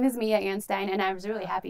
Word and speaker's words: Anstine: so anyway but my name is mia ann stein and i'm not creative